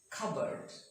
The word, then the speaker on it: cupboard: Cupboard. It's not cupboard, it's cupboard.